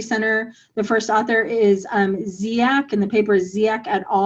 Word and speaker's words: Dziak: The first author is Ziak, and the paper is Ziak et al. It's spelled D-Z-I-A-K.